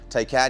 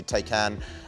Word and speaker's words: Taycan: you pronounce it what's the proper way tai can yeah i mean that makes sense to me take can um technically some people